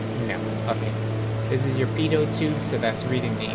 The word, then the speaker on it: pitot: between the static air and your pitot, which is spelled P-I-T-O-T, which a lot of people say is, oh, that's a pitot. No, not pitot.